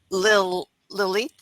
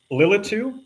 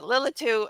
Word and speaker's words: Lilitu: Foron and he has written the book uh Lil Lit. Okay, see I told you I was going to screw it up. Lilitu Bloody Caleb.